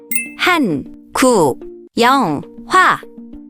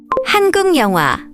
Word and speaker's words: 한국 영화: When a syllable ends with a consonant and the next syllable starts with 이, 야, 여, 유, 예, or 예, an extra nian sound is added. This is called nian insertion.